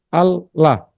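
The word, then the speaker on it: الله: Al-ilah, hamzah yang di tengah itu berat, maka dibuang. Jadi al-lah. Al samsia ketemu lam, tafkhim Allah. Karena tidak baca apa, enggak belajar tajwid, jadi bacanya Allah.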